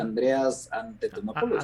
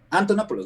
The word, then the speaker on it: Andreas Antonopoulos: Entonces, creo que tokens, ¿cómo se pronuncia? Andreas Antonopoulos. Andreas Antonopoulos. Antonopoulos, no sé por qué le agregó Antete.